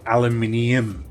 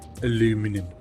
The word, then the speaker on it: aluminium: I call it aluminium. There's another I in there, but it is spelt aluminum in the game. Aluminum.